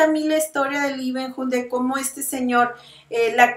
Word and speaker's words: Leeuwenhoek: Leeuwenhoek se pronuncia con una B, hook. Leeuwenhoek.